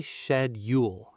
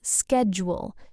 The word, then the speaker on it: schedule: But in American English, we say schedule. Schedule. The s c h at the beginning, in British English, it becomes sh, but in American English, it becomes sk.